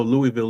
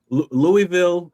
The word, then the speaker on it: Louisville: You're not you're not rolling your mouth enough. I'm just kidding. Go ahead. You got to say it like you've got marbles in your mouth.